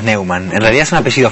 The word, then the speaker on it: Neuman: Así se dice en tu familia, ¿no? Sí, decimos Neuman, en realidad es un apellido falso.